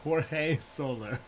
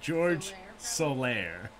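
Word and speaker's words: Jorge Soler: this individual's name uh the correct answer as seven of you knew is jorge solar or george soler i it could be either and i should have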